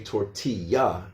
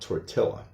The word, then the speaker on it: tortilla: in American English, and they also have a double L, which is actually pronounced like a Y. So that's why we say tortilla and not tortilla.